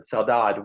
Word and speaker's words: saudade: I put an extra syllable on the end, but Saudade.